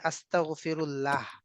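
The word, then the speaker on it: أستغفر الله: মানে জি বাংলায় হচ্ছে সুবহানাল্লাহ জি আর বাংলায় হচ্ছে আস্তাগফিরুল্লাহ, আর জি।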